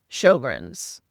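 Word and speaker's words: Sjögren's: It uh it's got an S and then a J after the S, which sounds very strange when you pronounce it Shoggrrens. So, Shogrins is a condition that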